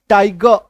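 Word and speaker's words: tiger: और मैं आपको ये बता रहा हूं कि आपको ये ध्यान रखना है कि यहाँ पे आर जो है वो सेमी साइलेंट है, तो पूरी तरीके से इसको उच्चारित नहीं करेंगे, ठीक है। टाइगर, पेपर, फिंगर, एक्चुअल उच्चारण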